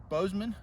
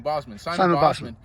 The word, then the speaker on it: Bosman: uh Simon uh uh Bozeman I said it wrong Bosman yeah like he could